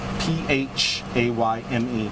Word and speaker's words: Phayme: First name, last name Phayme, P-H-A-Y-M-E, pronounced Phayme.